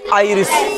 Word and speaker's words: आयरिस: L idol, I आर आई एस क्या पढ़ेंगे, आयरिस, आई ओ डी आई एन ई आई अडिन,